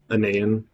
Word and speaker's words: Anayan: Which confuses people when I say it's phonetically accurate. I mean, like, if you do the whole sound it out thing, it works.